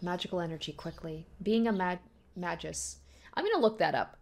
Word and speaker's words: magus: Okay, yeah, I was saying it very wrong. It's magus, apparently. So, apologies to those of you guys who are probably screaming at the screen every time I pronounce it. So it's magi and magus.